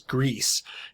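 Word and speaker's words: Griz: me think that uh the author intended us to pronounce uh Jim's last name as if it was Greece is because of some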